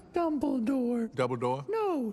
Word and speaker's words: Dumbledore: the young man step forward as you wish double door I'm gandal it's pronounced dumble door double door no dumble door you said double door vrus